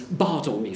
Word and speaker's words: Bartholomew: be discussing Ben Johnson's Bartholomew fair or as it would have been pronounced by Johnson in his contemporaries bar Tony fair first performed in 1614